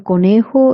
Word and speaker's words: conejo: And in conejo, it's a J, so you have to pronounce it k, conejo.